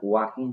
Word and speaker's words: walking: এখানে ওয়াকিং হবে WAL, ওকে, WALKING, WALKING, ওয়াকিং, ওয়াকিং। আসলেও এল এর উচ্চারণটা হয় না, এই ওয়াকিং হবে এখানকার রাইট উত্তর, অ্যান্সারটা হবে ওয়াকিং।